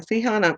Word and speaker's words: Sihon: And when I'm saying Sihon, it's spelled Sihon.